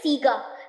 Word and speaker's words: Sega: It's Sega बोलते थे हम, it's Sega. करेक्ट प्रोनाउंसिएशन है सीगा।